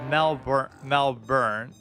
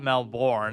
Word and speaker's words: Melbourne: It's pronounced Melbourne, not Melbourne, I guess.